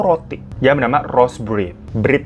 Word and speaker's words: Bread: Bread ya bacanya, bukan brand.